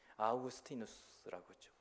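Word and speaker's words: Augustinus: 되었어요 이게 어거스틴에 스틴 아우구스티누스죠 라틴어인 발음은 아우구스티누스 영어로는 어거스틴 이분이 어렸을 때부터 총명했던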